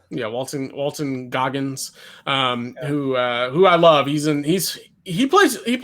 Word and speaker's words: Walton Goggins: So like basically, you know, hires his hitman, who is played by Walter, how do you pronounce his last name? Goggins? Walton Goggins. Yeah, Walton Goggins, who I love.